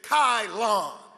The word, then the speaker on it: Kylon: I said, my name is Kylon, like nylon.